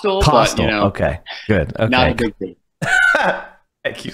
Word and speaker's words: Kostal: and it's what uh Ron Jansen and Alex Coastal am I pronouncing that right it's costal okay good okay thank you so I didn't